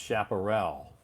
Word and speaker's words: chaparral: Chaparral? Chaparral? I think that word is pronounced chaparral. Frustrating.